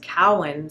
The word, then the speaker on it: Cowan: So my last name is not actually Cowan, it's Cowan. So Cowan. Think of a cow and then Ann.